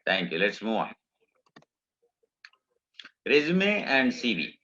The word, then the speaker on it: resume: Resume and CV. The pronunciation is resume, not resume. Please remember this. Okay. People say resume, but that is not correct. Resume is the correct pronunciation.